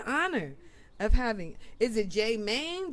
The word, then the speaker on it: Jmane: of having is it J Man J Man how do how do we pronounce it J Man J man yeah J Man how did